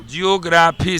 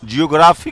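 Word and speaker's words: geography: जियोग्राफी से। ज्योग्राफी ना? यस। जियोग्राफी क्या है? रियल उच्चारण होता है, ज्योग्राफी नहीं, जियोग्राफी।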